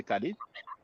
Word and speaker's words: Khalid: You see now, Khalid Abdul Mohammed. We pronounce it Khalid in English. In French we say Khalid. But the Arabic speakers they pronounce it Khalid because the ha sound does not exist in Yeah.